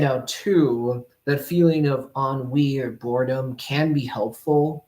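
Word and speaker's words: ennui: in NN you y on on WE that's how it's pronounced yeah e n n u y UI u i yeah on WE that's how you pronounce it what is that it's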